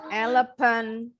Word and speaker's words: elephant: Elephant. Bukan elephant. Elephant.